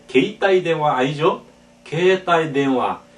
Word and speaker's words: 携帯: 게이따이 대화 그 이라고 하는 모음 앞에 에단이 오면 그 이는 발음하지 않고 앞에 그 에단 글씨의 장음이다. 따라서 게이따이 대화가 아니라 게이따이 대화 게이따이 대화 반드시 이렇게 하고요.